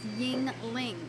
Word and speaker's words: Yuengling: And yes, it's pronounced Yuengling.